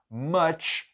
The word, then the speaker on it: much: Much milk. Muito leite. Much milk. E aí a pronúncia, esse U, ele tem som de A.